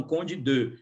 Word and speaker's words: Conde d'Eu: império já existia e as pessoas pronunciavam povo brasileiro não era tão letrado para ficar falando em francês né então acho que eles vão falavam condido só na na aristocracia